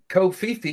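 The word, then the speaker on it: covfefe: essentially hack human beings kofifi is COV f-e-f-e and and so that's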